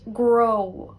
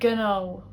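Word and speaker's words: gnó: Same for GN, so the word for business, grow. Whereas in Munster they would say gno, gno.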